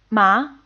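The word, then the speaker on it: 麻: marijuana or hemp and it's the same syllable as the previous word we just learned except that it takes on the second tone you can see that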